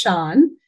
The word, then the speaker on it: Sian: So my name is Sian, and it's got that Irish tone to it. So you got to kind of get your best accent on to say it right, I guess.